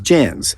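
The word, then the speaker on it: djinn: They were known as jinns, spelled with a silent D, D-J-I-N-N.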